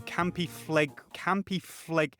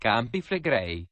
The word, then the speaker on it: Campi Flegrei: The movement is impressive, but the inch or so a year Yellowstone moves pales in comparison to campy fleg. It's pronounced Campi Flegrei.